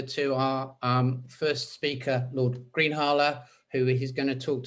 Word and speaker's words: Greenhalgh: other quite well, but my pronunciation is Greenhalgh. Oh, it's a difficult name. Sorry. Don't worry, but I just want to, I think we will make progress on it. It's a Lancastrian name. It's always difficult to pronounce.